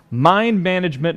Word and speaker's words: Mind MGMT: Mind Management #1. Now, it's actually Mind MGMT #1. Okay, that's management, but that's actually how it's spelled on the cover.